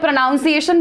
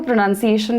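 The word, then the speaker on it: pronunciation: वो मॉडर्न बोलती थी मैं प्रोनाउंस एशन बोलती थी वो प्रोनंसिएशन बोलती थी द पॉइंट इज आप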